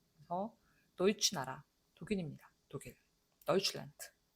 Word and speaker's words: Deutschland: 요 네는 당연히 유성음으로 발음을 하죠. 근데 요 네는 단어 맨 끝에 나오니까 느 이렇게 안 된단 말이죠. 란드 이렇게 안 돼. 그러니까 무성음으로 그냥 차내듯이 란트 이렇게 한번 혀로 차버리는 그런 발음이 되는 거죠.